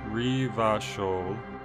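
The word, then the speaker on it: Revachol: buy a book uh revit troll is pronounced reva show orange is pronounced orange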